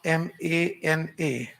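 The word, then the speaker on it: मन: We call in Hindi man. How we pronounce M-A-N-A. Man.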